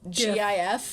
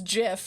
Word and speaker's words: GIF: creator of uh uh gif yeah is like it's uh no it's jif and we're like the rest of the world's like you're wrong you're wrong it's a gif the universe has decided